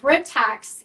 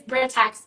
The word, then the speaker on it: Britax: So Britax is the parent company. Britex, Brightax, Britax. People say it differently, but it is Britex because it comes from the root of British accessories.